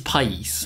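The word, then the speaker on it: país: wants to speak Spanish the way you say country is Pace the way I said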